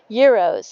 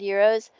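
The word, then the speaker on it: gyros: Um, euros. It's spelled like g y r o s.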